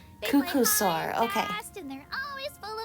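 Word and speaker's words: Qucusaur: of energy can you repeat how do you pronounce it again oh that's a cucko sore Cucka fast and they're always full of energy I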